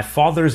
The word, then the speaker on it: father: Notice that the final R sound is not pronounced in British English. Father ends in a simple schwa vowel, like father. And in car, the vowel